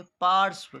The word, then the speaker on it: पार्श्व: Video में बताए थे, क्योंकि ये जो र है इससे पहले कोई भी जब आधा वर्ण होता है ना तो उससे भी पहले इस र का उच्चारण किया जाता है। तो इसको पढ़ेंगे पार्श्व।